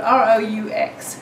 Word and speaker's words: roux: It's spelled R-O-U-X, roux. Wow, that's a great Scrabble word if I've ever heard one.